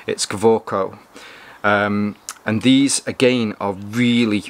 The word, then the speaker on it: Kaweco: Now, in English, I would pronounce this as Kaweco, but these are a German-made pen from a German company, so I'm guessing that W is actually a V, so it's Kaweco.